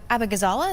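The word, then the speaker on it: Abughazaleh: Kat Abagazala, is that her last name? How do you pronounce it? Abagazala, yeah, you got it.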